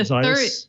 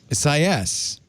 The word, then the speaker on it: Isaias: It's the Isaias. third syllable has the emphasis. Isaias.